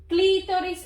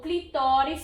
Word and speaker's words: clitóris: pequenos lábios e o clitóris clitóris ou clitóris são a mesma coisa certa a pronúncia das duas formas e escrita com azul de grafias diferentes são corretas então vocês utilizem a